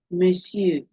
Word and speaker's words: monsieur: Now look at this case now. Monsieur. This on here is a silent e. It's a silent e that is pronounced here, and not mon or mo. Which is what? Me.